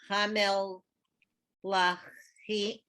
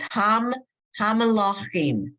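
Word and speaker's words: המלאכים: Hamel Lachim. It's Hamalachim. It's just you hear the M sound.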